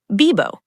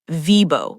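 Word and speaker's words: vivo: The fix, when you see V in Spanish, treat it like a B. Bibo, not Vibo with an English V, just Bibo.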